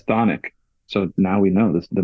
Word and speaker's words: Chthonic: I always thought it was Chthonic. I always thought they were called. I went off their pronunciation, which is Chthonic.